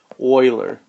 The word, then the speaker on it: Euler: that discovered it his name was leonard euler euler but even though it's spelled with a e and a u there